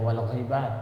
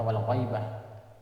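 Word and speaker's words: الغيبة: Wal hamiyatu wal asabiyyatu wal hamiyatu wal asabiyyatu li ghairillahi ta'ala Wal ghibatu, hati-hati baca wal ghibah, jangan dibaca wal ghaibah. Wal ghibatu, banyak tulisan Arabnya sama, baca beda, matanya beda nanti di depan.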